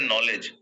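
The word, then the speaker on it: knowledge: इज a funny language लिखते हैं नॉलेज पढ़ते हैं नॉलेज के साइलेंट हो जाता है ना इंग्लिश इज अ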